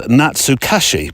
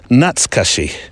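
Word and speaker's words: 懐かしい: Now, if you look at the word and say it phonetically, it's Natsukashi, but actually I did a bit of homework, went to find out how you pronounce it properly, and it's Natsukashi. Natsukashi. Quite quick, Natsukashi.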